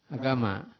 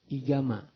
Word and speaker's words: agama: Di Indonesia, bagian Jawa, ia menyebut apa? Igama. Tulisannya sama juga. Kan? Alif, ga, alif, mim. Kuasa Malaysia memanggil agama.